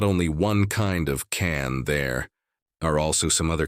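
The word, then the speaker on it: 蚕: this kind of insect its name should be pronounced can in Mandarin and there is not only one kind of can there are also some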